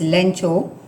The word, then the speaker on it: Lencho: You must have already seen lesson 1 about the Lenko, or as the pronunciation also could be done as Lencho, and you must have seen the animated short movie on it.